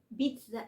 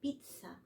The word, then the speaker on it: pizza: الكلام ده غلط هي نطقها الصح بيتزا كان في الزين دي كانها تي اس ليه بقى لان فعلا حرف الزي فيس حرف اليس في الات لانج بيتنطق تي اس وهي اصل البيتزا ايطالي